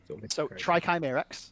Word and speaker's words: Trikyrax: So, how are you finding Trikyrax is how it's pronounced. So basically, Chimera, Tri, and Axe at the end.